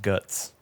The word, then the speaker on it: GUTX: Here we go. GUTX. Guts.